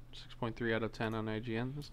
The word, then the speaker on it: IGN: 6.3 out of 10 on IGN. That's not bad. It's pronounced Igan. Dummy. Igan. I'm egging your mom.